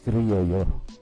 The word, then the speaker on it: Criollo: Or the correct pronunciation is Criollo.